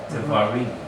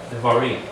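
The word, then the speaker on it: דברים: to the name of the book of Deuteronomy, Devarim. Devarim. Devarim. That's how the Israelis say Devarim. Their R is going to sound like a soft and like almost like a W sound. Devarim.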